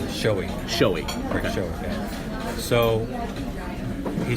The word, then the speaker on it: Schowe: do you say your last name is showing showy so he said you you need to realize